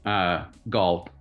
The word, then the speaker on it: Gal: Is there, Gal, remind us what you do for? And also it's Gal. It's like Paul but with a G, just spelled like Gal.